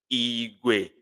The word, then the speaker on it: Igwe: And let me pronounce. It sounds Igwe, Igwe, Igwe, low, Igwe, low, Igwe.